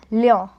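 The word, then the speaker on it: Lyon: it as cule egrek o n it is pronounced as Leo then we have the next one g r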